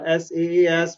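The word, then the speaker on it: SaaS: are happening these days right so I have s a s which is normally pronounced as SAS pass and and us so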